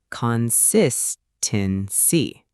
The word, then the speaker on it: consistency: The stress is on the second syllable, consistency. Let's try it slowly first. Con-sis-ten-si. And now at normal speed, consistency.